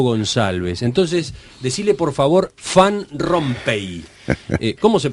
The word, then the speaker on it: Van Rompaey: entonces decile por favor fan rompe Cómo se pronuncia exactamente su apellido que se escribe van rompaey noo se pronuncia si en puridad en la lengua flamenca ser fan con f Pero bueno estamos en